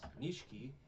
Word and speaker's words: Nishiki: Nishiki, and they're like, oh, we gotta go to